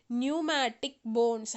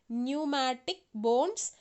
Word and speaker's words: pneumatic: we call it as pneumatic bones how to pronounce p is silent here pneumatic bones which reduces the body